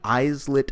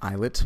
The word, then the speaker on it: islets: that there are many eyes lit cells it's actually pronounced islets but I'm mispronouncing it just to let you know how it's spelled eyes lit or islet